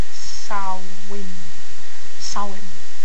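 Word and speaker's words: Samhain: origins in the ancient Celtic Festival known as sanh however it is pronounced sa sa it's spelled s a m h i no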